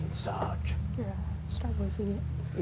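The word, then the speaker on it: Ensage: It kind of looks like Insage, but it's pronounced Insage.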